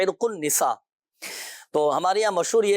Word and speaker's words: عرق النساء: دیکھیں عرق النساء صحیح تلفظ ہے عرق النساء, تو ہمارے یہاں مشہور